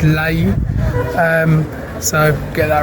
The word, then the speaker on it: lei: I have been pronouncing the the currency wrong. It's not LA, it's it's lei.